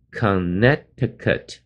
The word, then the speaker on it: Connecticut: 区之一。Connecticut 中间有个 C 的字母不发音，所以念的时候念。Connecticut，不要念 Connecticut，那就受不了了。